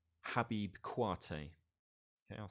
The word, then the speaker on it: Kouyaté: So we're going to look at an artist from Mali called Habib Kouyaté. Okay, I'll spell that second name.